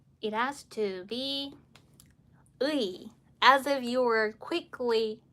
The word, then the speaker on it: 의: So as for this 의, it has to be 의, as if you were quickly saying the and 의, but the emphasis is more here in this